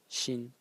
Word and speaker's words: 心: character is this one over here which is pronounced Shin in the first Stone and it's it's a